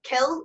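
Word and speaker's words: cill: a slight difference in pronunciation kill as in the english word kill and c-o-i-l-l is more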